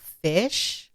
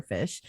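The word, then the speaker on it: Phish: fish is a band it's spelled p-h-i-s-h for fish and it's uh four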